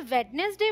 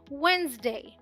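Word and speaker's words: Wednesday: बोलते हैं डेट और बहुत सारे लोग इसे वेडनेसडे बोलते हैं बट ये तो वेडनेसडे है ही नहीं क्योंकि डी साइलेंट है क्या है वेनसडे यहां आते हैं क्या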